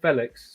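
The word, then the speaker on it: Félix: um the goal that Felix scored or Felix scored if you want to say it correctly um against West Ham.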